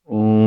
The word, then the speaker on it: ओम: बोलोगे सच्चिदानंद तुम्हारा क्या हाल है तो शब्द ओम है जबरदस्ती उसको बाल की खाल उधड़े जाना अ उ म तीन से वो बना है तीन ही उसकी अवस्थाएं हैं ओम दिस इज द उच्चारण ऑफ़ ओम।